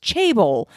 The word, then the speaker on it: chaebol: mentioned in episode 160 are pronounced chaebol, no matter what the Google dictionary told me.